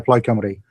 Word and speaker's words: Plaid Cymru: Plaid, or is that how you pronounce it? Plaid Cymru? Yeah, Plaid Cymru.